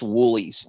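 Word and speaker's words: Wholey's: It looks like Holy's, but it's pronounced Woolies.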